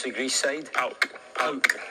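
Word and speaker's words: PAOK: Your Arsenal career came to an end and you signed for, how do you pronounce the Greece side? Pauk.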